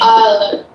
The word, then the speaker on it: island: Oh, yeah, L is a silent letter. Okay. Island is S.